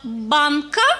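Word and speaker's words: banka: А вот слово «банка» с ударением в конце означает «банк».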